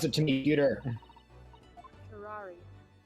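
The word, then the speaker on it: curare: it to me cuter curari curari okay that's how it's pronounced like Ferrari I would never have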